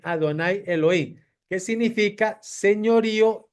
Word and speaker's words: Adonai Elohim: delante de adonay Elohim Por qué se pronuncia aquí adonay Elohim porque aquí está y b pegado de la palabra Elohim y ahí no se lee ashen Elohim se lee Adonai Elohim Qué significa señorío y